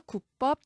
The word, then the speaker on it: 구법: 한자 구가 붙어서 이루어진 단어는 귀로 읽는 것을 인정하지 아니하고 구로 통일한다. 종래에 구와 귀로 혼동이 심했던 이 한자의 이름을 구로 통일했습니다. 그래서 구법, 구절, 결구, 경구, 대구, 문구, 시구, 인용구 귀가 아니라 구가 맞습니다.